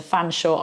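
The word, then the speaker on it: Featherstonehaugh: earth Featherstone hall for Featherstone hold turns to Fanshawe I really don't know then we've got the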